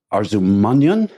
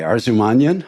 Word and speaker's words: Arzumanyan: Let me see if I can pronounce this properly. It's Arzumanyan? Yes, correct. Okay, Arzumanyan.